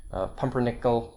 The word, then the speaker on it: pumpernickel: these examples sorry now occasionally not too often occasionally get minus four stress on the fourth syllable from the end controversy pumpernickel pumpernickel is a kind